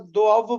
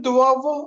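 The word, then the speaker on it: doivent: एल बोलते हैं ना इल और एल के बाद दोव बोलना है। क्योंकि यहां पे जो हमने वी है उसको प्रोनाउंस करना है। और इ एन टी इज साइलेंट दव। ओके इल दुआव और एल दव।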